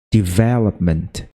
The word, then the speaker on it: development: misteri Lucy murid-murid itu biasanya menekankan kepada lobnya padahal yang bener itu kayak gini development jadi yang di push itu nah di sini juga